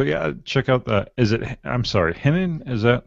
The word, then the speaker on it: Henning: So yeah, check out I'm sorry, Henning? Is that how you pronounce it? Yep, Henning.